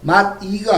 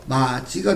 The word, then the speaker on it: 맛이: 발음 한번 해볼까요? 뭐가 되죠? 맛이가 아니고 뭐가 되죠? 마지가 됩니다.